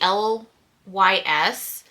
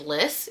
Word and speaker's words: Lys: Okay, the other thing that I have been absolutely loving for like a daily wear, this is the LYS. I was told that it's not pronounced Lys, it's pronounced LYS.